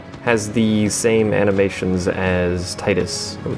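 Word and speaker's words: Tidus: Dress Sphere mode has the same animations as Titus, or Titus, if you want to be technical and pronounce his name proper.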